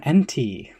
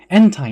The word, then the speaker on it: Entei: Entei. Some people call him NT. Entei, not to be confused with the hen with the tie. Entei is a Pokemon that has volcanoes erupt when it barks.